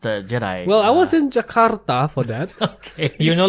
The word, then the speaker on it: Jakarta: Notice the rolling of the R. Yes, that's how they say it. Do they? Jakarta.